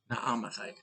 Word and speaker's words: Naamathite: Zophar the Naamathite, the double A's are always tricky, but the experts say you pronounce each of them separately. So that's what I'm going to try to do. Naamathite.